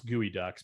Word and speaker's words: geoduck: hell is a geode actually i pronounce gooey ducks but i always say geoducks okay so the evergreen